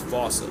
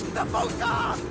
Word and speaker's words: fossa: game of telephone has Americans saying while England pronounces it as Fossa. So if your point of reference is the movie, it's Fossa. If it's Sir Attenborough or the Wild Thornberrys, it's Fossa.